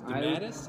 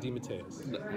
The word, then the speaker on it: DeMatteis: Well, because it's pronounced two different ways. There's DeMatteis and DeMatteis.